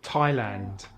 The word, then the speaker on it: Thailand: Sometimes the H is silent in TH, such as Thailand, time, asthma, commerce, Thames ini and the Thames, as in the river in sungai London.